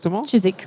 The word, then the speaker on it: Chiswick: Et puis chez Chiswick Auction, est-ce que je prononce ? Chiswick, ouais.